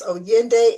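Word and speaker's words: Oyinde: So to get in touch with me, my company, my parent company is O Yende Enterprises. That's spelled O Y I N D E Enterprises.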